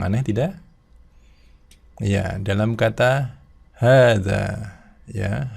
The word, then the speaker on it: هذا: Jadi kita tidak boleh membacanya dengan hadza gitu ya, tapi harus hadza, dua-duanya panjang.